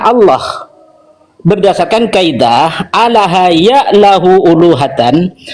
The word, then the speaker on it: Allah: Lam ketemu lam, kaidah bahasa Arab dibaca tafkhim tebal idgham, yaitu dibaca Allah bukan Allah. Jadi siapapun yang menyadur kalimat itu harus membacanya Allah berdasarkan kaidah alaha ya'lahu uluhatan wa ilahatan wa uluhiyatan.